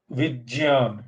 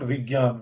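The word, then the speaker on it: विज्ञान: So Vijyan. It's not Vigyan. Vijyan. Vijyan. So so this is important. Now let's also now come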